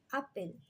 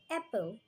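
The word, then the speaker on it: apple: যেমন আমরা বলি আপেল, ওটা আসলে অ্যাপেল। অ্যাপেল বলি মাঝে মাঝে, ওটা আসল উচ্চারণ অ্যাপল।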